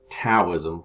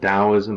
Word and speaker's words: Taoism: is the next philosophy now Taoism can't be pronounced with a D like I just had Taoism or Taoism with a T all right Taoism was